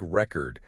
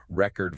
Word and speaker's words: record: A word like record completely changes. Meaning if you stress the first syllable versus the second syllable, record versus record. Ah yeah, one is a noun, one is a verb.